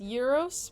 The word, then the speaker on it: gyro: Euro zero jirro from Google AI jlo you don't have many Greek food choices to comment it's pronounced yuros but the thing is the Greek word jirro